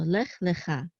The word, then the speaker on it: lech lecha: So lech lecha, and we see here that this tevir, this is the trope mark, so the accent is on cha, lech lecha.